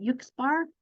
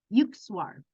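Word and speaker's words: Yukteswar: Science by Sri Yuk, I always say his name wrong, Yuksbar. I can't even. I was practicing it too. Yukswar Giri, Sri Yukswar Giri.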